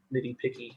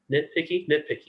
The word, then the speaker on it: nitpicky: Like, I don't know if that's kind of like nitty picky at this. That's not how you say it. How do you say it? Nitpicky. Nitpicky. Yeah, that's it.